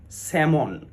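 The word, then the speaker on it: salmon: silent হয়ে যায় এমনড ঠিক তেমনি করে স্যামন এস এ এল এম ও এন স্যামন অ্যামন্ড অয়েল স্যামন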